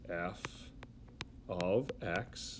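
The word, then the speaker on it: f(x): again writing this out this stands for how you say that is you say it as f of x that's the how you say it equals 3x plus 9.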